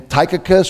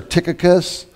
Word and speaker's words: Tychicus: colossians 4 7-8 so you might pronounce his name tychicus or tychicus tychicus will tell you